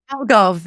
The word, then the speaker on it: Algarve: Algarve, yes. in It is not an Portugal. easy word. Lots of people struggle with it. It's Algarve.